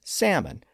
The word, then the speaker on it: salmon: That's what happened with salmon, which is still usually pronounced without an L sound.